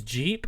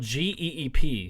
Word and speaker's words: Geep: line coach higher uh his name is Jeep but it's spelled g-e-e-p so um a geep